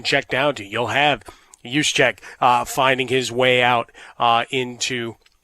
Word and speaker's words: Juszczyk: You'll have Juszczyk finding his way out into pass patterns. Remember, the J is silent.